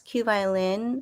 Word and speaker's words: QVLN: husband gets all guerrero he's also known as q violin which is spelled qvln and as philippines and wellness we